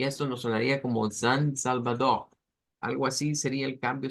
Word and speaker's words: Salvador: G, San Salvador. En esto lo que cambia es la pronunciación de las eres que están que al final. Que las haríamos sonar como una J, es como la R gutural, Salvador, El Salvador, y esto